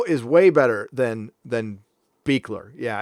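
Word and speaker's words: Buechler: it's bu ECHL er it looks like bugler Bueller but it's pronounced beekler on the west coast it's pronounced bugler on the East Coast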